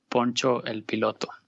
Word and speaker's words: Poncho el Piloto: I'm on Instagram as, it's in Spanish, so I'll spell it out. It's called Poncho el Piloto, like Poncho the Pilot. So it's P-O-N-C-H-E-L, and then Pilot with an O in the end, P-I-L-O-T-O, Poncho el Piloto on Instagram.